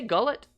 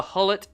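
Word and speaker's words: Gullit: in The Dutch leagues do you say gullet is that how you pronounce it so it's pronounced as an H okay H it got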